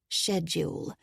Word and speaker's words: schedule: checked your afternoon schedule he pronounced it the british way schedule it was one of his favorite words it seems to be clear after 3 30.